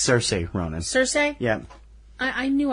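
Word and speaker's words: Saoirse: Best Actress, Charisse Ronan as Christine Lady Bird McPherson, Lady Bird. It's Cersei Ronan.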